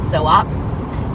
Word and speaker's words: SOP: like co-op but so-op in North Kingtown.